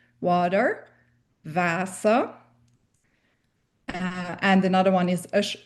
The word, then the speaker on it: Wasser: is this fact that the W's need to be pronounced like the English V. It's a hard V sound. Welcome. Other words that start with a W include Wasser, water, Wasser.